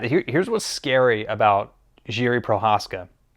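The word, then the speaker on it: Procházka: what's scary about Jiri Prochazka. I believe that's how you say his name. I don't think it's Prochazka. I believe it's Prochazka.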